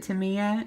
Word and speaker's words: Tamiya: And this is, and I think you pronounce it Tamiya. It's Tamiya Color Acrylic Paint.